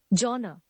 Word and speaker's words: genre: The next word is you may be pronouncing it genre. Genre. What it actually is genre.